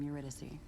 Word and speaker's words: Eurydice: your royal majesty nice to meet you i'm eurydice what brings a big important guy like you